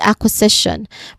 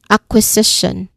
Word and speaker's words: acquisition: Pronunciation wise, a is a primary stress while Z is a third um syllable. You know the third stressed syllable. So acquisition again. Acquisition. Acquisition. All right. Acquisition. Okay. The permissions is on the third syllable.